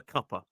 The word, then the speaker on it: cuppa: cup of tea and we're basically just saying a cuper. Uh, which is uh spelled slightly different to a cup of tea, but we don't say it like that.